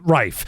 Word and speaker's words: Reith: Yes, like my wife, but Rife. Yeah. Almost like a rifle.